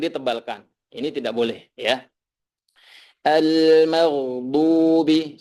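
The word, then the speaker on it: المغضوب: Al-maghdubi, cara pengucapannya atau makhrajnya yaitu di pinggir-pinggir lidah yang bertabrakan dengan gigi geraham atas, kanan ataupun yang kiri, ya.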